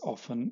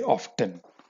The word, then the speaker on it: often: Okay, so often without the T is pronounced as often by the British, whereas Americans sometimes say often. Okay, so we prefer to just say often.